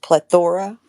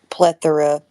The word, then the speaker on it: plethora: what was it plethora you were uh putting the accent on the o the plethora instead of plethora being the E he masculinized it oh